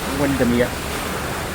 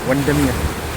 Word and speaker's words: Windermere: If you're saying Lake Windermir, you're actually saying it wrong. It's just Windmir because near means lake. So anywhere where you see N E R E that already means lake.